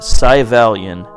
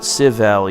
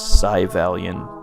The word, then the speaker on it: Syvalion: had a trackball that's Savelle sigh Valiant yeah not SIV Ally and I thought it was but it's saya valiant they pronounce it during the attract mode I believe but this